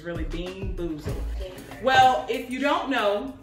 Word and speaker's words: Bean Boozled: i butchered the name i kept saying bean bamboozle when it's actually bean boozled so um we're going